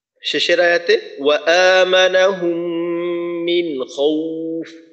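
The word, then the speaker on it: خوف: শেষের আয়াতে ওয়া আমানাহুম মিন খাউফ, খাউফ খটাকে মোটা করে উচ্চারণ করা। আর এখানে বলা হয়েছিল যে এখানে ওয়াওয়ের উচ্চারণটা ওর মতো হবে না, বরং দীর্ঘ উর মতো হবে।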